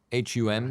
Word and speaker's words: Hum: It's by a Polish company called whom H U M D they I think they pronounce it whom.